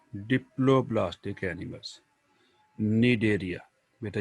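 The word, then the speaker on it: Cnidaria: phylum सिल टेटा और इसे डेरिया भी कहते हैं यहां पर सी साइलेंट है बेटा डेरिया सिलेट का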